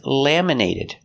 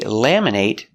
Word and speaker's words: laminate: My driver's license is laminated. They laminate your driver's license. Laminate is a verb with a long a sound. Laminate. But what if it's not a verb? Laminate. We make the short it sound.